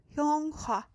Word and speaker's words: 영화: Yes, Hyunghwa. Hyunghwa. That is how you would pronounce it.